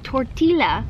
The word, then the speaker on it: tortilla: Arbor tortilla makes Tor I got to say it right tortilla it's tortilla I don't care makes tortilla